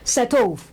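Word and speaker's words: cet œuf: Setov, setov, setov. When you link it, you will see that T, the last letter there, will link with a vowel sound also.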